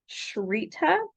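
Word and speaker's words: SHRITA: a government agency called shita I think is how the author wants us to pronounce it it's s h r i t a in all capital letters and we don't know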